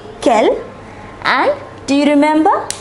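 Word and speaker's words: quel: kill kill and kill all the four are pronounced Kel and do you remember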